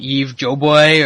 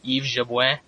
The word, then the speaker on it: Jabouin: or whatever Rogan says, his name is Yves Jabouin. So I'm Canadian, I speak a little bit of French. That's relatively close to how it gets pronounced. I call him Yves Yabois. There you go. So right there, your pronunciation's a little bit better than Joe Rogan's, but still pretty horrible. Anyways, Eddie Wineland, 29-1 in his MMA career.